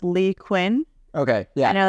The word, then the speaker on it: Leigh Cuen: H by the way my name is pronounced Lee Quinn okay yeah I know